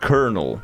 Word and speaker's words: colonel: Um, let me see if I can actually refresh my memory on this one because a cuz it's pronounced kernel, right? Kernel.